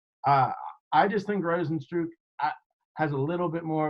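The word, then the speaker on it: Rozenstruik: Is that how you pronounce his name, man? Yeah, you got it right. Rosenstruck?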